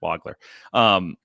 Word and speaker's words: Wagler: has been, or Keaton Wagler, excuse me. The pronunciation has shifted on me, and this is no good. I've trained my brain to say Wagler. It's Wagler. Like, they love having this